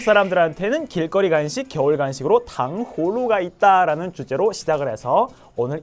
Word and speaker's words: 糖葫芦: 한국 사람들이 하시는 발음을 보면 대부분 탕후루 이렇게 후를 다 넣지 않고요. 탕후루, 우루 이렇게 되는 경우가 되게 많아요. 의식적으로 내가 흐를 넣으려면 그게 아니겠지만 근데 그게 아니고 그냥 한번 읽어보실래요? 그냥 한번 발음해보세요. 그러면 대부분 다 탕후루 이렇게 돼요. 후가 없어요. 하지만 중국어에서는 그게 빠지면 안 돼요. 아무리 빨리 얘기해도 당후루 이게 들어가기 때문에 이렇게 서로 간의 발음이 좀 다릅니다.